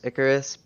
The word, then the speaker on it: Icarus: end game name is icarus uh pronounced like the greek myth um uh this is